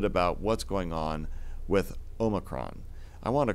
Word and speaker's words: omicron: alphabet uh in college he's like no no you're saying it all wrong it's omicron so indeed say something